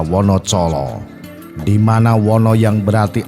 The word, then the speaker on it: Wonocolo: Dulunya Wonocolo mempunyai ejaan Wonodijolo, dibaca Wonocolo, di mana Wono yang berarti alas atau hutan, Colo berarti obor atau penerang.